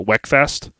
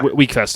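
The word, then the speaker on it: Wekfest: you said the first uh I believe you pronounced it Weck Fest w e k first yeah weak Fest okay so you said uh first week Fest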